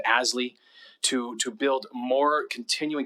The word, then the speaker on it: ASLI: living initiative or asli we use the acronym pronounce it ashley to to build more